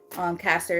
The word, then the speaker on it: Castor: Caster is spelled Castor and then River.